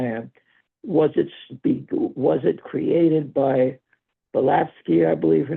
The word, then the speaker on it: Blavatsky: Was it created by Blavatsky, I believe her name was? Am I pronouncing her name correctly? Blavatsky, Helena Petrovna Yes. Blavatsky.